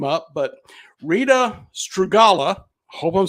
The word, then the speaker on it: Strugala: Bishop Rita Strugala. Am I pronouncing that right?